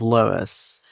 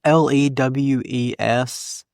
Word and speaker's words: Lewes: By the way, it's Lewes, which It's spelled the same way as a town, or as like an English town, so We hope that's the pronounce.